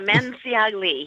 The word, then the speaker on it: Manciagli: Could you pronounce it for us, actually? Absolutely. Manciagli.